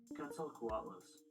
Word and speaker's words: Quetzalcoatlus: That That is not the pronounce button. Quetzalcoatlus.